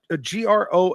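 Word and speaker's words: Grohl: song 1969 uh Dave is it pronounced g r o HL from derana Gro yeah absolutely and the Foo Fighters Fighters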